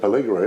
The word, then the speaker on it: Pelligra: With it's the Pelligra, isn't it? Is that how we pronounce that?